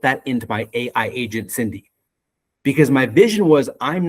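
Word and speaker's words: Cindie: So, I built something for the industry and her name is Cindy. C I N D I E. It stands for customer. The I is silent.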